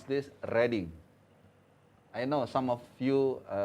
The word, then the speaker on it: Reading: This, how you pronounce this? Reading.